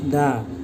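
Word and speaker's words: داء: ওয়াসিফা ওয়াশিফা মিন কুল্লি দা মিন কুল্লি দা শেষের দিকে উচ্চারণটা হবে দা।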